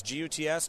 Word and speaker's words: Guts: mistake people make is they spell it got Z it's gots just like it sounds uh which actually stands